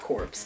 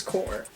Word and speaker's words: Corps: i pronounced it correct it's not corpse it's core is it an acronym